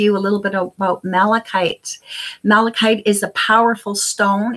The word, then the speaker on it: malachite: Now, I'm wondering if I should, read a little bit about malachite, the properties of malachite.